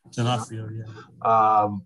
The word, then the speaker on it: D'Onofrio: It's harrowing what they do to D'Onofrio. D'Onofrio, is that how you say it? D'Onofrio, yeah.